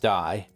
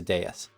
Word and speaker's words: deus: I don't think it's not, because it's not pronounced die. That's you win or you, yeah, it's just, it's a deus.